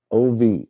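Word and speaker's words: אוב: Ov. O-V. Ov is how you pronounce it.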